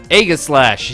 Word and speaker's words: Aegislash: Agislash is pronounced EG/. Aegislash, yeah, Athena.